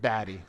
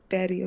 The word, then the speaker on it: Badi: Am I pronouncing Am I pronouncing it correctly? Baddy. Baddy.